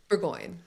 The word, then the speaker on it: Bourgoin: Bourgoin.